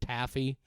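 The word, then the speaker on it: Taaffe: the actress I believe her name is pronounced Taffy uh t a a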